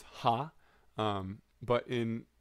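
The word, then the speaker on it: は: or not sorry it's ha um but in in this case it's pronounced wa so that is actually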